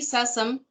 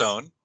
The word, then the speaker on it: Sassone: And tonight we have Sassam. Is that how you say it? Should ask. Sassone, close, yeah.